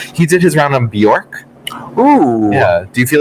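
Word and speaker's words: Björk: did his round on Bjork oh yeah do you feel like he would have done well on that um well only because she's it's Burke isn't it it is Bjork which I learned Gaston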